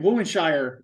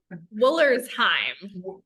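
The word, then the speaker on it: Wollersheim: Foolery, and I can't, Woolenshire. Is that how you say it? Woolenshire? I say it wrong. Woolersheim.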